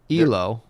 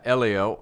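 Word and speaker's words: Hélio: to see more of this so carlos's brother elo yeah elio uh with osvaldo and gestalt jr are all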